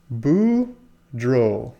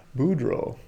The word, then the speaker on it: Boudreaux: it's broad its Broderick's says it's boo drill pronounced it's a Louisiana name so he's correcting me in the past Boudreaux Boudreaux yeah there you